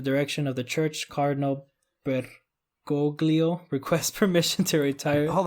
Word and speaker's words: Bergoglio: It's Bergoglio, but I think the easier way to pronounce it is Bergoglio.